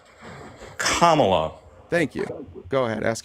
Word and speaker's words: Kamala: which is so easy just say Comma just say it Kamala thank you go ahead